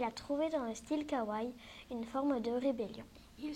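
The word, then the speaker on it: かわいい: kar-wai signifie mignon adorable on le prononce kawaii ce style vestimentaire particulier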